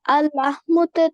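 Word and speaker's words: اللحم: তাসদিদ থাকলে তখন দুইবার উচ্চারণ হয় আল্লাহমু।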